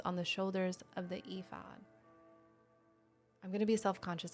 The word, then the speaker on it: Ephod: Ephod, I don't know. E days. I don't think it's that. Um, I don't know how to pronounce that. EOD. Yes. Okay. Ephod.